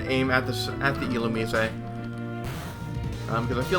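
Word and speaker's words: Illumise: the um IL and yes that is how you pronounce it it is il um I don't know why it just is so an ember and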